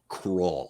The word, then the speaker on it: Krull: So anyway, just tell him it rhymes with dull. Yeah, Krull.